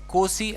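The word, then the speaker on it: Nkosi: वो गा रहे थे, कोसी हो सकता है एन साइलेंट हो, कोसी सिकेल अफ्रीका, इस तरह से कुछ नेशनल एंथम वो गा रहे थे।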